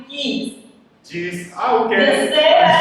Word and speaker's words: Gies: It's actually geese.